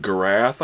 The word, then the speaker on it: Garath: She says she pronounces it Garath, I believe. Tell me if that's right. She said it's like giraffe with a TH.